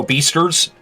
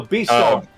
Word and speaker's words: Beastars: Oh, Beasters? No, Beastars.